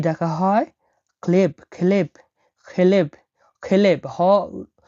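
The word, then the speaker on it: хлеб: Clive, খেলেব, খেলেব, খেলেব। এখানে এইচ উচ্চারণটা হবে খ এর মতো, তাহলে কি হবে খেলেব, খেলেব, খেলেব মানে রুটি।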